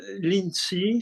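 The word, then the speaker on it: Linji: voilà, Lincy, Ouais. Il a donné enfin, une école après. voilà. Voilà. C'est-à-dire Lincy, c'est le nom chinois, Rinzai, c'est la prononciation japonaise d'un courant.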